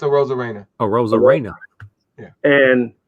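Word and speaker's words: Arozarena: Aroma Reina. Is that how you say it for Tampa? A rose con pollo, but it's a Rosa Reina.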